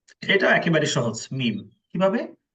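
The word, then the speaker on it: ميم: এখানে মিম উচ্চারণ করতে জিহ্বাও লাগবে না, দাঁতও লাগবে না। বুঝতে পারছেন ভাই? জিহ্বাও লাগবে না, দাঁতও লাগবে না, জাস্ট দুই ঠোঁটে যে শুকনো স্থান আছে এই স্থানকে একত্র করে উচ্চারণ করবেন।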